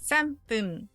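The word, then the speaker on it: 三分: But we get to number 3, 3 minutes, you have a sound change again. 3分. Now the 3 is simple, it's just san. But fun becomes pun.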